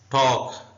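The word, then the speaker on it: talk: उर्दू में आमंड का मतलब होता है बादाम टॉक एल साइलेंट है उर्दू में ऐसे लिखेंगे इसका मतलब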